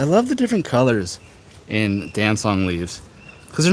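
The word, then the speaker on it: Dancong: Milan Shiang Dan Dansong. It's spelled D A N C O N G.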